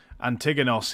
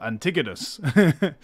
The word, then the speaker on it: Antigonos: Like before, like a really easy example to give is Antigonos here used to be called Antigonus, which is a subtle difference, but it's the Roman versus the Greek and the actual Greek, pronunciation / spelling.